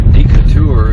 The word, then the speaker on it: Decatur: This is just outside of Decatur, or Decatur as you foreigners pronounce it.